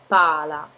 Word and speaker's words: pala: You see the L is just slightly pronounced, so it's pala.